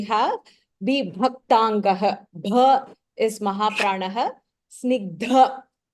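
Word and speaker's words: स्निग्ध: Snigdha. Dha is Mahapranah. We have Varnav Pratapavan.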